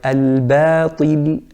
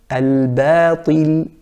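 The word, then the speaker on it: الباطل: The second mistake with the letter ba is to make it thick if it comes next to a thick letter. So for example, the word al-batil, al-batil, that's the correct pronunciation. The incorrect pronunciation would be to say al-batil, al-ba. So correct, al-ba. Incorrect, al-ba.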